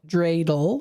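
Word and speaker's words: dreidel: It's pronounced drele.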